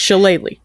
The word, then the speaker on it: Shillelagh: Every time someone is doing this spell, they're like, I don't know how to pronounce it. I looked it up. It's Shillelagh.